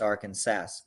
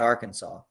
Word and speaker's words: Arkansas: In Kansas, the Arkansas River is pronounced Arkansas, not Arkansas.